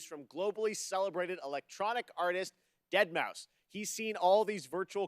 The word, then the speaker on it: deadmau5: just a fortnight ripper joel professionally known as deadmau5 yes that is the correct way to pronounce it tell your friends we're here to talk about it's not that much no it's deadmau5 we're never never going to call going to